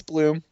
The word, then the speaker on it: Blum: Is it Blum or Bloom? I don't even It's Bloom.